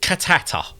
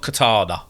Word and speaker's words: Cantata: It's called Cantata. Not Katana, as I keep saying.